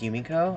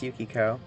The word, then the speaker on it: Yukiko: Yukiko and Kyoko woohoo did I say her name was yumiko I'm sorry it's Yukiko how could I literally